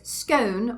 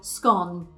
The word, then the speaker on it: scone: And I believe there's still a debate over there about whether it's scone or scone.